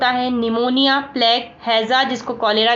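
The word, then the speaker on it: pneumonia: चलिए निमोनिया की बात करें तो यहाँ पर पी साइलेंट होता है और निमोनिया लिखा रहता है।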